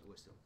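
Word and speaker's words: Oolacile: Ulaseel. It depends on your pronunciation, but they pronounce it in the game as Ulaseel.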